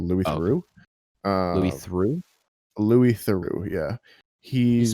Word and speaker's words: Theroux: really been doing a lot of is Louis Theroux, which I actually bought a VPN you to kind of watch. cut out for me. Sorry. He's a documentarian called Louis Theroux. Louis Theroux? Louis Theroux, yeah.